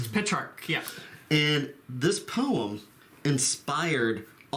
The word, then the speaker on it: Petrarch: How do you pronounce his name? Petrarch. Petrarch, yeah.